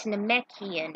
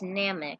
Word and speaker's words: Namek: And I don't pronounce them as Namekian, it's Namek, as I call it.